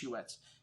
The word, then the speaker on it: Huet: this wine is Huet, because usually you wouldn't pronounce a T at the end of the French language. There's only 4 consonants so you pronounce at the end of a French word. C, R, F, and L. And T ain't one of them, but there's a little accent over the E, so it's Huet.